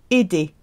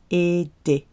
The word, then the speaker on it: aider: Aider. Aider. Ending in ER. To help. It's another ER verb. Pronounced E. Aider.